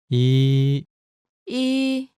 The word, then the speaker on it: 이: Your first vowel is E. 이, This is pretty easy, right?